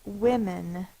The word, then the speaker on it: women: that vowel sound so it's women sounded Out w m n the first sound is w i but it's spelled with a o I'm we'll put here